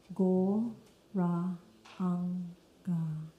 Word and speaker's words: Gauranga: And we say the mantra in 4 syllables, Gaur, Ra, Ang, Ga.